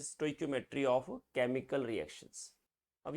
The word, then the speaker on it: stoichiometry: स्टोइशियोमेट्री भी बोलते हैं लोग, है ना, but exact pronunciation is स्टोइक्योमेट्री of chemical reactions.